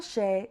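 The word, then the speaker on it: ཤད: So you can see how the tsek separates between syllables. This next one is a she.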